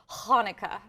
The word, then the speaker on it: Hanukkah: the interview, so it's Hanukkah. Pretty good. We're getting, it is Hanukkah is the Hebrew word for, it is hard for many to use that ch.